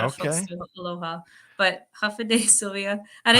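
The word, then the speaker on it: Hafa Adai: So, Mary Kate, Hafa, help me pronounce. Half a day.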